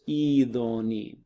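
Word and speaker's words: ηδονή: You don't do the rough breathing marks. So it's just idoni, okay?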